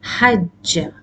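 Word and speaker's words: حَجَّ: If you remember from the sarf lesson, this verb is hajja.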